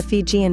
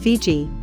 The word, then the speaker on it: Fiji: and much in demand they called their home Didi but the Tongans called it faisai and it was by this foreign pronunciation Fiji first promulgated by Captain James Cook that these islands are